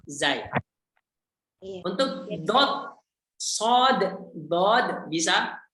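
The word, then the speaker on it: ضاد: Untuk dot, sod, dod, bisa? Itu ada alifnya ya pengucapannya ya? Ya, betul. Panjang.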